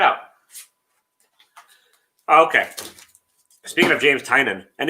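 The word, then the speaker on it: Tynion: interview with him um and that's how he pronounces it so tynan who just keeps making characters throw them against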